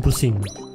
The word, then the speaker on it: pusing: So, turning it around, in Malay we say pushing. Pusing. Yeah! pushing. Yeah, you say it correctly.